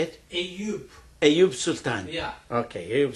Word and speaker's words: Eyüp: Eyüp.